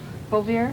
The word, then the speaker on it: Bouvier: moved it because I knew I said your name wrong bobier you said the name right you called her